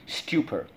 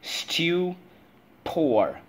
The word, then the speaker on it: stupor: saw you were speechless stupor let's go stew poor stupor that's number eight let's go first syllable stew second syllable poor all right so how